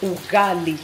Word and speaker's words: ugali: I was talking about ugali some people were mispronouncing it it's called u u g a l i ugali okay Maze flour maze maze meal I think